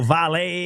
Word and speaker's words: Valle: I've been El Valle and No, so the double L Valle. is like me Okay.